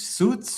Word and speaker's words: suite: Suite?